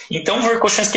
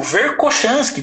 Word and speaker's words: Verkhoshansky: Verkhoshansky, ele foi o primeiro cara a começar a escrever sobre treinamento antiglicolítico.